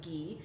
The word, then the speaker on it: ghee: use something called Gea's it's pronounced or it spelled ji-hae and it's pronounced ghee and basically what ghee